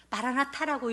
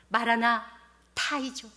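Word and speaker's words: 마라나타: 바라나타라고 읽으시면 안 됩니다. 히브리어와 아라모어의 결합죠. 마라나 타이죠.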